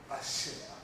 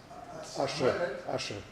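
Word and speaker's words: Asche: The other surname I pronounce Ashe. Ashe, yeah. It is A-S-C-H-E, E for enter.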